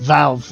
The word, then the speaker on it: Valve: You're saying Valve, right? Okay, you have an extra syllable there. It confused me.